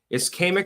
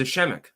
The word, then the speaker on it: ischemic: Ischemic attack? I thought it was Ischemic. I've heard it pronounced both ways, though.